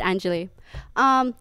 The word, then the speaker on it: Anjali: Hi, and once again, it's pronounced Anjali.